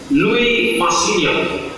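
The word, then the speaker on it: Louis Massignon: n masignon Luis masignon cara membacanya Luis Min bahasa Prancis bahasa yang tulisannya tak sama sama sekali jarang bacanya Louis masin balik dia ke Mesir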